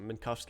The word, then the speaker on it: Minkowski: Minkowski is the correct pronunciation.